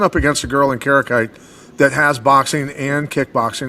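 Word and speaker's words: Kareckaitė: So moving on to Ernesta Karakate, is that the correct pronunciation of her name? It is, and then her opponent... Stab in the dark, bro. Stab in the dark. Karakate.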